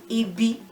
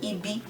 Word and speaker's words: ibi: well, ire, ibi, ire, they have no tone marks on them. So rere for ire, rere for ibi. Re is the tone mark. We don't really put any mark on syllables that have the re tone anymore.